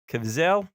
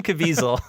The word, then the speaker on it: Caviezel: My number 3 is a 2002 film, The Count of Monte Cristo, starring Ooh, Jim Caviezel. Help me out here. Caviezel.